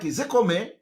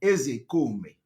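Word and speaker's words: Ozekhome: When I want to pronounce, I pronounce it the way Igbo people are pronouncing it. I'm a typical Igbo man. The real name of Mike Ezekome is Mike Ezekome.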